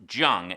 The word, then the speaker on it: Jung: The film is based on the true life story of George Jung, and that is a hard J, pronounced Jung, not Young.